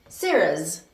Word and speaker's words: Sarah's: But listen to this. Sarah's. It's Sarah's. There's no is added because the name doesn't end with a s or